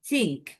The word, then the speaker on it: think: এটা বলো please, please আটার দি সাউন্ড, উচ্চারণ করো, ঠিক উচ্চারণ হ্যাঁ থিঙ্ক না, ভেরি টাইট, ইট সাউন্ড ভেরি টাইট।